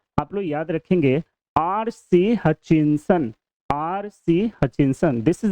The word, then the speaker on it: Hutchinson: Okay, ट को नहीं प्रोनाउंस करेंगे, हचिंसन प्रोनाउंस करेंगे।